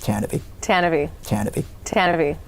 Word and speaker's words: Tantive: tanv yes it's pronounced tanv tanavy tanv tanv it doesn't look like it's spelled that way but that's tanv the